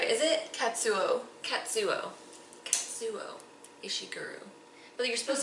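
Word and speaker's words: Kazuo: the best book, Never Let Me Go by Katsu Ishiguro, which I know I'm not pronouncing that last name correctly. It's the first name you don't say right. Is it? Katsuo.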